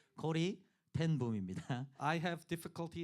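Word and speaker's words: Corrie ten Boom: 아 이분의 이름을 발음하는 것이 정확하게 되는 것이 참 별로 없는 거 같아요. 항상 코린테붐이라고 제가 발음할 때가 많은데 코리텐붐입니다.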